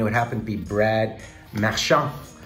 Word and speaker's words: Marchand: Here is our first retro, and it would happen to be Brad Marchand. I know people hate when I pronounce his name in French, but it just comes naturally to me.